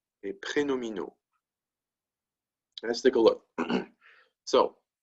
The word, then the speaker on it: prénominaux: Les adjectifs prénominaux. That's how you say that long word with all those X's. Okay, prénominaux.